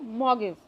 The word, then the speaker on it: mortgage: ये यहाँ पर देखिए MORTAGE, don't pronounce it एज अ मॉर्गेज, you will pronounce it as a mortgage.